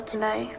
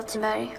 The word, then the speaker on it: Thunberg: Hi, my name is Greta Thunberg. I am a climate and environment activist. Wait a second. Have we been saying her name wrong? What did she say? Hi, my name is Greta Thunberg.